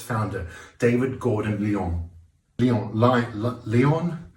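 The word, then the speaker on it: Lyon: its founder David Gordon Leon Leon Leon it's spelled like the French city David Gordon lion was an avid Arch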